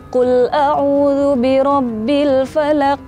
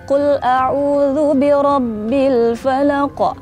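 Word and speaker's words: قُلْ أَعُوذُ بِرَبِّ الْفَلَقِ: Qul a'udzu birabbil falaq. Nah, tuh kayak gitu tuh itu sebenarnya kurang betul. Tapi yang betulnya insyaallah qul a'udzu birabbil falaq. Jadi ada pantulannya.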